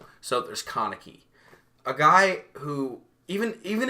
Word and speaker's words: Kaneki: like okay this is a great connector it's pronounced kaneki by the way you we'll